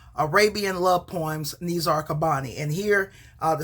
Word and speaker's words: Qabbani: is sort of pretending like he is Nizar Qabbani writing to his love.